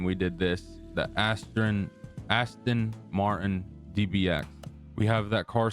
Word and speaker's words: Aston Martin: We got the Astro the Astron Martin. I was pronouncing it wrong the last time we did this. The Aston Aston Martin DBX.